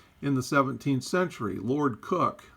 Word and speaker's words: Coke: the 17th century lord cook i know that looks like coke but it's pronounced cook differentiated between natural persons